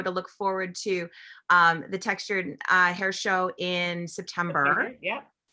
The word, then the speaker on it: Textur'd: That's why it's like turd, but anyway.